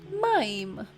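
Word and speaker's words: מַיִם: sky one more time do you remember the word for water it's mime mime this is the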